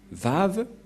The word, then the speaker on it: Vav: Et donc, la prononciation du lettre Vav en hébreu, selon la prononciation de Abraham et Moshe, on le prononce V, mais pas W ou comme avec certains, c'est directement V.